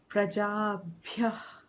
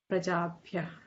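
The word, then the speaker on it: प्रजाभ्यः: I think it's in our Hindi pronunciation that prajabhyah and we natural आ जाता है भया. Prajabhya. Prajabhyah.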